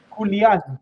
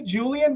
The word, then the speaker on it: Julian: Yeah, if my name's in Spanish, Julian, that's how it's pronounced. And I say Julian because I really don't like the way Julian sounds.